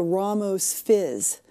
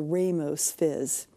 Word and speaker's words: Ramos Fizz: in recent times, and it's the Ramos Fizz, or as it used to be widely mispronounced back in the past, as the Ramos Fizz.